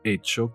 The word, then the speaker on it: hecho: No es hecho que. Cuidado, hay una H y no se pronuncia.